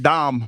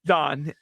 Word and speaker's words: Don: That's why I can't get mad at Dom Mattingly. No, again, it's Don, and you also know his name.